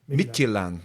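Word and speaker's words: Midtjylland: the team yes yeah almost the the D is silent at the end but other other than that you've nailed it yeah mitan that y yeah nice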